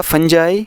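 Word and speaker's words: fungi: माइस, ऑक्स का auxin, फंगस का plural रहेगा फंजाई, जिसको इंग्लिश के मुख्तलिफ डायलेक्ट्स में फंगी या फंगाई भी प्रोनाउंस करते हैं।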